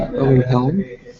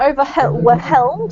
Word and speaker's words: overwhelmed: See, overwhelmed. So the H is silent in this word, Julian. So it's not overwhelmed, it's just overwhelmed. Imagine there's no H, okay?